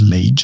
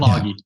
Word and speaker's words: Lage: It's a way to pronounce it that sounds more like the Northern Europe countries, But is it that?